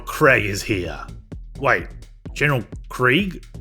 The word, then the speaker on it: Krieg: Wait, General Krieg? Like German for war? That's a bit on the nose. I always thought it rhymed with egg, but I guess it's spelled how Yanks say Craig.